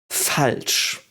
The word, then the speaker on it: falsch: Falsch. Again, SCH, which is an SH, so to speak in English.